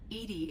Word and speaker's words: EDI: why are you named Edie Edie is the phonetic pronunciation of EDI that is an acronym for enhanced defense intelligence that's all for now